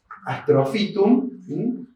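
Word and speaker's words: Astrophytum: que es este sí cambia la p y la H siempre se pronuncia como este astrofitum Astro estrella filtro planta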